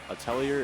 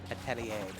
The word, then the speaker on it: atelier: it's either Atelier is the American way you pronounce it, but the French way is like Atelier.